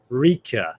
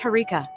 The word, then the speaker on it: Harika: It's Rika. It's Harika, just Harika.